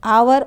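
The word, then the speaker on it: hour: से हो रहा है एच यहां पर हिडन है आवर ऑनेस्ट दोनों में एच का प्रोनंसिएशन हिडन है साइलेंट है और ओ से हमारा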